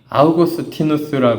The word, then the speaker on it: 아우구스티누스: 심할 때이 구절을 심했 어거스틴이 아우구스티누스 하죠 요즘에 발음을 그대로 다 읽어요 근데 우리 어거스틴이 더 익숙하니까 어거스틴 하면 더 알아듣기 쉬우시죠 어거스틴이 하겠습니다 성 어거스틴이